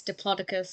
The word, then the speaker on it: Diplodocus: The first time I found out that in America it's Diplodocus, it just blew my mind.